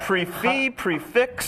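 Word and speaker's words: prix fixe: Is that prefix? How do you pronounce that? Come on. What should people say? Prefix. Prefix. Okay.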